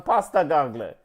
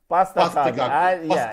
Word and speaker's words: Postecoglou: Dan, Pasta Gagle. Postecoglou.